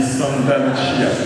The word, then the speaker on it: Santa Lucia: La Chiesa di Santa Lucia.